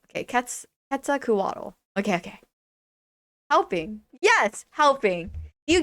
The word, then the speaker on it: Quetzalcoatl: I like cannot Quetzalcoatl. Oh my god. I'm so sorry for my butchering of the pronunciation.